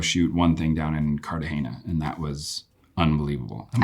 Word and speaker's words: Cartagena: And then uh the last week we got to go shoot one thing down in Cardahana and that was unbelievable.